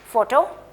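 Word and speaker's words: photo: O this is what फोटो okay हमने पीएच की sound क्या की थी फ साउंड रिमेंबर फैरो फोटो ठीक है पीएच काफी जगह पर किस साउंड के साथ प्रोनाउंस होता है फ ओटी ओ ऑटो फोटो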